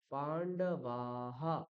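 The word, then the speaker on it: পাণ্ডবাঃ: উকার হু ঠিক আছে যেমন আমরা এখানে দেখছিলাম পান্ডবা আকারের পরে বিসর্গ রয়েছে তাহলে আমরা বিসর্গটাকে কি করব বাহা পান্ডবাহা মনে থাকবে এই জিনিসগুলো খেয়াল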